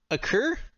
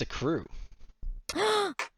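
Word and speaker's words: accrue: Before we go on, I've noticed you say what's the word? A cure? A cure? It's a crew. It's saying it wrong.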